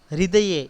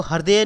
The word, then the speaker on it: हृदय: आतुर हृदय, इसको हृदय नहीं बोलेंगे, इसको बोलेंगे हृदय। इसमें री की मात्रा है और ह का उच्चारण थोड़ा कम होता है, तो आतुर हृदय शब्द क्या होगा?